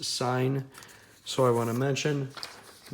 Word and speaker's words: sin: As I said, although this is marked sin, it is pronounced sign.